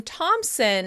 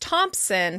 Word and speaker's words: Thomson: The last name "Thomson" is often pronounced "Thompson" for the same reason.